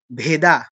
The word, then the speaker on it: বেদ: এই এটা হচ্ছে অ এটা ভেদ ভেদা নয় ভেদ ভেদ অ টা হচ্ছে ডি এর পরে এ তারপরে হচ্ছে কি এই